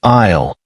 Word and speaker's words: aisle: The word for this walkway is aisle, and the letter S is silent. It sounds like AIL.